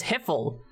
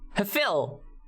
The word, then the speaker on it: HFIL: And everybody always pronounces it as Hiffle. No, Hefil. Yeah. HFIL, Hefil, not Hiffle. Hefil. Yeah, you know, you gotta enunciate it correctly.